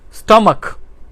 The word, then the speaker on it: stomach: अब आते हैं कि अगर सी एच हो तो उस वो के की आवाज़ भी देता है। हेडेक, सर दर्द। स्टमक, हमारा जो मैदा है इसको स्टमक कहते हैं, तो इसकी स्पेलिंग है STOMACH, तो इसमें भी सी एच आता है, लेकिन यहाँ पे ये के की आवाज़ दे रहा है, चे की आवाज़ नहीं दे रहा।